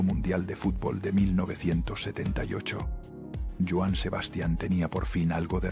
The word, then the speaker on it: Joan Sebastian: Así nació Joan Sebastián, aunque los locutores de radio y el público terminarían pronunciándolo Joan Sebastian sin acento y así se quedaría para siempre.